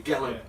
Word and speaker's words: Gelling: We've been liaising with Nicholas Gelling. I don't know how to pronounce it. Is it a soft G? No, it's a hard. A hard G. Gelling. Yeah, definitely.